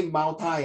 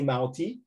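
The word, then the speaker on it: Maotai: So British is anti, and you don't say mao tai, I give you mao tai, so you don't say Mao Tai, you say Mao Tea.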